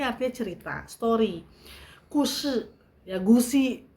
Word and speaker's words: 故事: 故事 ya gusi bacanya 故事.